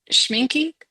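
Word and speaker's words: Schmincke: Oh, it's Schminky. Oh, Is that okay. how you pronounce that?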